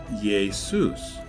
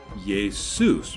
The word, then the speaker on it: Jesus: So the Latin Jesus became Jesus, but notice that the J is pronounced with an I.